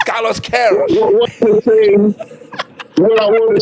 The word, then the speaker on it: Carlos Queiroz: You know, I have a Portuguese friend, and I asked him the pronunciation of the Portuguese coach. He said it's Carlos Queiroz.